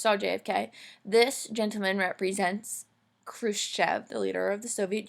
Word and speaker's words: Khrushchev: Nick I crush F this is how you say his name Khrushchev kind of backs down